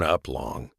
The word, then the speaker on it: aplomb: Uplong, pronunciation uplong, meaning self-confidence or assurance, especially when in a demanding situation.